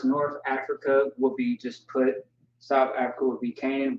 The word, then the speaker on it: Put: and the bible put that's how you pronounce it put like put that's how it sounds puts clips some